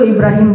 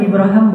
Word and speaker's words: Ibrahim: sekarang dia Ngomong Ibrahim bahasa Arab itu Ibrahim boleh ibraham boleh itu dua cara baca al-qur'an kan ada qiraat kan Ya jadi kayak bahasa Inggris Abraham itu bahasa Arab aslinya Ibrahim ibraham dua-duanya bacaan yang benar Nah ya Ibrahim kata